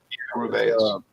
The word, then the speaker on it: Rubaeus: I think that's how we just got decided it's pronounced. Rubaeus.